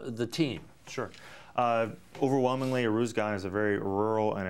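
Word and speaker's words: Uruzgan: so you're sent to uh how do you pronounce the name of the province you were in uh arus gan arus gan perfect arus Gan well you said it and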